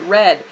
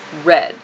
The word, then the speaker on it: read: do we pronounce it red this verb read in present tense is pronounced read in past tense and in past participle form this verb is pronounced red but the spelling does not change this is the past